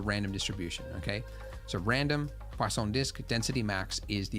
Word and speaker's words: Poisson: Poisson. There's no W in it, but I was told that that's how you say it. Shit. I guess it's French.